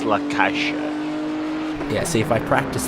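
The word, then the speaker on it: La Caixa: say um again okay fair uh it's it's lakasha yeah see if I practice that then I'll forget how to pronounce the snack and I'll go to the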